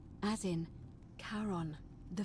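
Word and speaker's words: Charon: it's just as you described it only your pronunciation is a little off the name you heard wasn't Karen it was c h a r o n as in Kon the F of the Dead I literally figured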